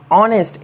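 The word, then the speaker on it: honest: word AO एन ओ यू are honour सम्मान ऑनेस्ट ए एन ई एस टी ऑनेस्ट तो dear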